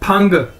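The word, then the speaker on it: 朋: तो ये देखें चाइनीज के अंदर पी को हम एज अ फे के तौर पर यूज करते हैं, यानी PE फ। अगर PENG हो जाएगा तो इसे हम कहते हैं फंग।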